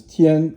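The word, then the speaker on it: 天: This is tian, and it's first tone, and it means heaven.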